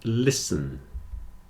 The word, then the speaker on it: listen: a long Castle sound whistle and listen you hear that in all of these the t is not pronounced especially in Words with